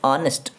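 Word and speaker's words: honest: हर नहीं पढ़ते हैं, अर पढ़ते हैं, एन ऑनेस्ट। तो उस केस में ये एच इज the silent, H इसमें साइलेंट होता है, तो उस केस में भी हम एन का इस्तेमाल करते हैं।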